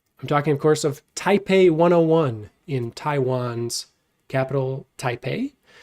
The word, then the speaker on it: Taipei: Uh, because it's actually Taipei with a B and not a P.